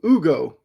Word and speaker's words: Hugo: They take So Adam Silver pronounced it uh I think it was Ugo Gonzalez. I know I know in Spanish the H has a different sound. So, Ugo Gonzalez, who I've seen 66, 67, he's like 210 lbs.